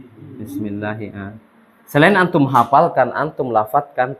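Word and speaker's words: بِسْمِ اللهِ: Dia pasti baca kasroh. Enggak mungkin baca bismillahi, bismillahu, bismillaha atau bilangnya busmi, enggak mungkin. Nah, bismillah. Sekarang kalau bismillahi dia sebagai apa?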